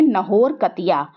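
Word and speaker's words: Naharkatia: इसको मतलब प्रोनाउंस किया जाता है लोकल लैंग्वेज में नाहौर कतिया.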